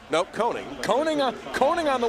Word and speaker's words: Koenning: And that is something that Vic, and I have to get this right, because we have two cousins who pronounce their names differently. Vic Koenning No, Koenning.